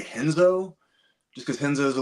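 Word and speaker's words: Renzo: Jiu-Jitsu he's talking about in Portuguese R is pronounced H so it's hoist Gracie and henzo Gracie so it's kind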